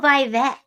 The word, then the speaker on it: Vivek: Go Vivek. Vivek rhymes with cake.